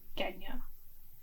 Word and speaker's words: Genya: Why would I say j? I would say g. Genya.